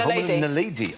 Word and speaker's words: Homo naledi: The Homo naledi, or naladi. Nadali. Homo nadali, yeah. Nadali. Sorry, Homo naledi.